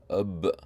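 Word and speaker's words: اَبْ: How may you pronounce this letter, which has a sukoon on top? Ab.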